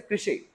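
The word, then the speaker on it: crèche: Word number 24th, इसको pronounce करें सर कृषे.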